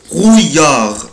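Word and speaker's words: brouillard: او في شبوره كلمه برويار ضباب او شبوره بنطقها ازاي يا اولاد قولها بروي بروي برويار برويار المقطع ده بنطقه اوي اوي اويار يبقى برويار اليا تاني اليا دو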